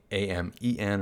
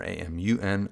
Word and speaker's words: Amun: Whether it's spelled with a U or an E, doesn't really matter. A-M-E-N or A-M-U-N, Amun or Amen.